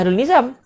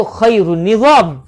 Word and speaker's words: Hairul Nizam: Macam saya sama saya Hairul Nizam. Hairul Nizam. Kalau ejaan Umi, Hairul Nizam. Kalau ejaan Jawi, Khairul Nizam. Kan beza? Orang Melayu panggil Hairul Nizam. Orang Arab panggil Khairul Nizam.